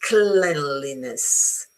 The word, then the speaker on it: cleanliness: It's pronounced cleanliness as in head.